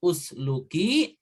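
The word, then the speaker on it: اسلكي: Maka ini juga usluki itu atau pasluki, kalau disambung dengan fa maka dibacanya pasluki, tapi kalau fa-nya dipisah bacanya usluki, maka ini juga fi'il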